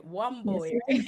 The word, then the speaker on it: Wamboi: Yes, Wamboi, you can say right?